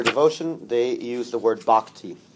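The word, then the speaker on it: bhakti: for devotion for devotion they use the word bakti how you spell that b a h a k ti so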